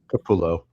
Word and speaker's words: Capullo: It's like was it Greg Capullo or Capu- I can't know I don't know how to pronounce it. Capullo.